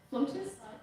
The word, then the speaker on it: flautist: As a flutist, it's spelled with an A, that's interesting. Flautist? It is said flautist, okay, thank you.